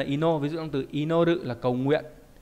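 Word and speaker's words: 祈る: Âm cương là ino, ví dụ trong từ inoru là cầu nguyện. O inori là lời cầu nguyện. Âm ôn đọc là ki, ví dụ trong từ kinen không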